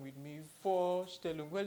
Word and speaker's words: Vorstellen: the pronunciation with me for still well it's quite easy like the number for which you already know in English and then still look for standard so let's try the